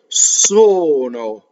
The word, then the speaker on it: sono: This is single N. The N in quando was different. Quando, sono. Hear the difference. If I did the same N, it would be quando, sono. And a lot of people do this when they sing. That's a mistake. The second N, sono.